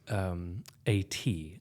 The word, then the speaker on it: Ate: So Ruin is A-T. So it's spelled 8, right? Like that's her name. It's A-T-E. So it's pronounced like A-T, right? Like they're both long vowels.